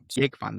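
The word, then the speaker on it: Jógvan: Well, actually, it's pronounced Jogvan. Jogvan, there was. Yeah. But I don't know. Maybe I don't know how he's used to pronouncing it in English, but in Faroese it's Jogvan. So, as his brother, would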